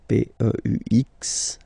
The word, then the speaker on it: peux: Then tu peux, same pronunciation and same spelling or writing, okay, P-E-U-X, okay, don't pronounce the final X.